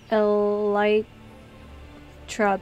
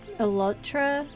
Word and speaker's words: elytra: how to pronounce elytra because I enjoy Minecrafters pronounce it a light truck but it's a real word the outer kind of shell Wings covering the Beetles it's supposed to be pronounced a lot elatra yeah um I thought that too um I